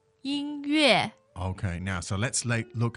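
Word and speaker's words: 音乐: 音乐音乐 So first and fourth tone.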